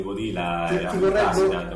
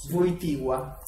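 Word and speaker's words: Wojtyła: anni del papato di Voila posso Posso correggerti la pronuncia votia voi votia e sì sì sì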